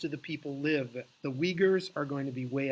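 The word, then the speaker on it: Uyghur: yeah don't even bother Weger is spelled UI gh you are give me your version how would you spell it phonetically they are a minority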